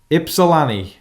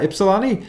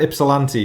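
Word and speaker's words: Ypsilanti: Let me make sure I get this pronunciation correct because you put it in brackets afterwards. Ipsilani. Yeah, Ipsalani. See, I would have said Ipsilanti because I would have I would have thrown the T in there, but no, Iani.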